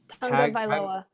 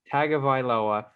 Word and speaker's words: Tagovailoa: Tagovailoa. Tagovailoa.